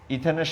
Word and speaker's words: ইথিন: এন এর উচ্চারণ আছে, অ্যালকিনের বেলায় ইন উচ্চারণ হবে। তাহলে প্রথম সদস্যটা হবে এখানে C2H2 ইন্টু 2 ইকুয়াল টু হচ্ছে C2H4। এখন এটা প্রথমে অ্যালকেনের ইথেনের সাথে অনেকটা মিল আছে, সেই মিলের কারণে এখানে ইথেন না হয়ে দুটো হাইড্রোজেন যেহেতু কমে গেছে, তখন এটার উচ্চারণ হবে ইথিন।